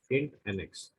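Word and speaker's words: INTNX: the next function is in nx or interval next shortly pronounced as in nx so it will tell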